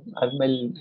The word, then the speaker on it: Arul: How do I pronounce that? Arul.